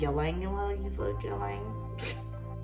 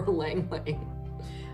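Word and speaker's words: ylang-ylang: Do you guys pronounce it ylang ylang ylang? Or lang lang? I call it lang lang.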